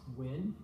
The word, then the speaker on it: Nguyen: That can be spelled NG or some other different ways, but as I understand it, they're all pronounced Nguyen.